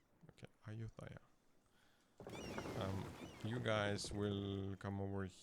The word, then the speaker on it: Ayutthaya: How do you pronounce it? Ayutthaya. Okay, Ayutthaya.